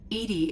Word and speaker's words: EDI: are you named Edie Edie is the phonetic pronunciation of EDI that is an acronym for enhanced defense intelligence okay uh where exactly